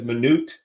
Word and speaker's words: Minut: business and so today we've got um it's pronounced two different ways I know it as minut uh but Nathan just informed me that it's pronounced minute here in the states and so um you